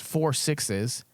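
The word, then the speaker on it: 6666: And then there's another one called 666, pronounced 4 sixes, and it will take place in modern day, contemporaneously to Yellowstone.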